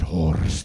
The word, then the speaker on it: Horst: a new person like this is my friend horse I would always have to correct them like excuse me it's pronounced hored would spice up the